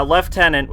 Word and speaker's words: lieutenant: Dragon guard 2 and he constantly bitched about how I pronounced uh lieutenant and I just wanted to say that's the original pronunciation so please stop bitching every single time the word is mentioned yeah left tenant is the original oh it's a half